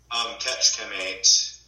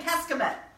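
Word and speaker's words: Kecskemét: So how do you say the town you're in? Ketchkamate. Ketchkamate. Ketchkamate. Ketchkamate. Yeah. Right. We've been saying Keskamet.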